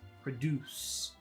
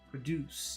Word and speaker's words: produce: a kiss in vowel So when you say it you have to kiss produce produce you have to give a kiss when you say produce